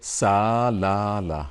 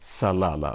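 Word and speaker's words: Salalah: We don't say salala, okay? We say salala, okay? So there is a schwa here. It's like E, the letter E, but it is inverted, okay? It's like this. This one is called schwa, schwa sound.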